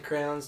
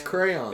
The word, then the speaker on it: crayon: Do certain crowns taste better than other ones? What did you just say? No, some people say crowns. Crown. See, and they're saying it wrong. It's crayons.